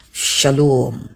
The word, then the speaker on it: shalom: Sylum kemudian mengalami perubahan jadi shalom. Shalom. Adapun bunyi o ini diambil dari pembiasaan yang dianut oleh orang-orang Aramaik.